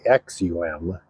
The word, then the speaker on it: Aksum: and that is spelled AK KSU M it's pronounced axum and it is named after an ancient civilization